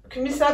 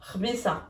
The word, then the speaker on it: قبيصة: Kmissa del melha. Non, pas kmissa, parce que kmissa aussi c'est un nom arabe.